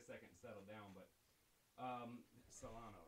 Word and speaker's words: Silano: But Silano, right? Yeah. You know, I've been so anxious about mispronouncing your name.